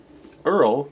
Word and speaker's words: URL: figures in this series Earl pronounced Earl is an acronym for the Uniform Resource locator and as a peace